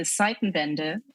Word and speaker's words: Zeitenwende: So the Zeitenwende, as you pronounce it, we say Zeitenwende.